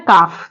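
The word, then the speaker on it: calf: काफ जैसे वर्ड है काफ तो काफ में जो ए है एक वाउल है उसके बाद जो एल आ रहा है वो यहां पर क्या है साइलेंट है नेक्स्ट वर्ड है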